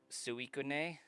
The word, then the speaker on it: Suicune: So, I think regardless of how Pokedex says to pronounce it, or the anime, it's Suicune.